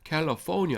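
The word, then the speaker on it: California: 캘리포니아 악센트가 뒤에 있습니다.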